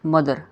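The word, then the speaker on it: mother: तो इसके बारे में टी एच वैसे तो थ की आवाज निकालता है ठीक है टी एच हमारा वैसे तो थ की आवाज निकालता है ठीक है लेकिन इस केस में जो हमारा यह टी एच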